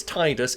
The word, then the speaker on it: Tidus: fans is sometimes unclear his name in Japanese is slightly different approximately pronounced Tida and therefore the assumption is the first syllable pronounced the same in his English name the pronunciation of his